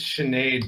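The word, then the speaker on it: Sinéad: you call a skinhead no sin had its Sinead but I was a kid I pronounced it I see what she dear on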